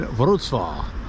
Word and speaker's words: Wrocław: This time we're in Wrocław, which is nothing like it's written as far as pronunciation goes.